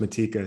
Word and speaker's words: Matejka: in the world adrian matejka um well so so i don't want to interrupt you but it's pronounced matika so we might want